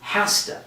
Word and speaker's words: has to: z sound has to when we put those two words together we actually pronounce it with an s and we say hasta so for example kelly